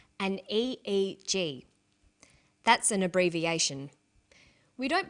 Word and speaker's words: EEG: that say the Swinburne researchers he says an EEG that's an abbreviation we don't pronounce it ich we say a eg EEG stands for electroencephalograph